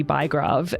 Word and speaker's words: Bygrave: Well, the Norwegians would sometimes say Bygrave, which actually... Bygrave, I love it. It sounds so good. Yeah. It actually means city grave or city diggings. So it's not a particularly uplifting surname to have. But I keep trying to insist on the English pronunciation, which is Bygrave. Bygrave, there we go. As in Max, but no S.